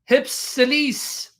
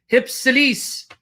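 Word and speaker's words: ὑψηλοῖς: The words on high in hypsilis. Hypsilis. Trying to pronounce it like the Greeks would.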